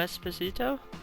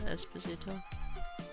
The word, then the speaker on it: Esposito: Yan Cerrito Espazito. That's okay. Okay, that's amazing. Canerilo and Carlo Espacito. It's Carlo Esposito.